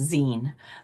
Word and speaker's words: zine: So zine is a shortened version of the word magazine. So it's pronounced zine.